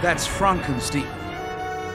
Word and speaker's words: Frankenstein: like when it got adapted into a musical frankenstein my name it's pronounced frankenstein you must be no